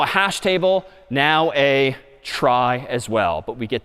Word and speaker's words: trie: that's known as a try which is somehow short for retrieval even though that's pronounced somewhat differently but try just means